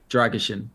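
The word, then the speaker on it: Drăgușin: But can you pronounce his name? Dragishin.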